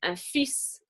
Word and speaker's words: fils: So it's going to be very confusing if you're saying un fils with the S at the end that you pronounce, meaning a son, versus une fille, where it's actually a daughter.